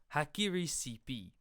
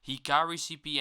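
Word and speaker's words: HikariCP: we're going to use a software package called hack Erie CP yes I am well aware that it is pronounced Hikari CP and not hack Erie how qcp is a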